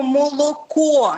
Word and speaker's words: молоко: голосних Ну наприклад навіть це ж слово молоко яке в нас звучить о російською мовою це або звичайно молоко в них все з'їдається молоко молоко Ну що це